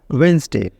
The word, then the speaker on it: Wednesday: उसके बाद आता है वेडनेसडे।